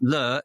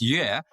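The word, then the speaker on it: 乐: So you pronounce it differently. So joy is le and music is yue, but actually it's the same Chinese character.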